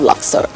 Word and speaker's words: Luxor: Or Phoebus or Tiba in Arabic, yes, or Luxor now. Yes. So first, am I pronouncing its name right?